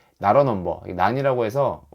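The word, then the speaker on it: NaN: 아니에요 어 넘버라 뜻인데 not a 넘버 근데 그냥 난이라고 읽으시면 되거 어쨌든 이건 정의되어 있는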